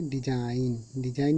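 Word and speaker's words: design: जैसे डिजाइन, देखिए डिजाइन में एन से पहले जी आया है तो ये जी साइलेंट है।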